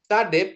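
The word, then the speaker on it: צדי: Sade pengucapannya dia TS, ya, transliterasinya TS. Nanti kalau dia di depan satu kata, dia di transliterasinya jadi S, itu kalau enggak Z, gitu ya, Bapak Ibu ya.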